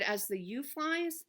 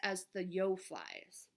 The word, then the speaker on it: As the Yo Flies: I mispronounced the name last time. So I said as the you flies, it's actually pronounced as the yo flies. And if I had read inside here, it tells you yo rhymes with crow.